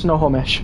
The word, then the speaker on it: Snohomish: Snohomish is pronounced Snohomish.